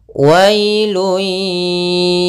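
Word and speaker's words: ويل: Kemudian ayat yang selanjutnya, wailun yawma idzil lil mukazzibin. Pada lafal wailun, wailun di sini ada bacaan lin, yaitu pada lafal wa ketemu dengan huruf ya sukun, maka dia lembut dalam pelafalannya.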